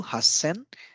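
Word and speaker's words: 八千: a combination of sounds so again a double consonant comes into picture so since Hutchison is a little bit of there is a little bit of difficulty in pronouncing Hachi sen it's not that fluent so because of that it has been merged into Hassan and so this is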